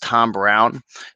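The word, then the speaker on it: Thom Browne: I believe it's pronounced Tom Brown, even though it's spelled Thom.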